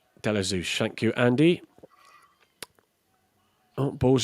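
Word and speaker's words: Ashby-de-la-Zouch: I can never still never pronounce that properly. Delazouch. Delazouch.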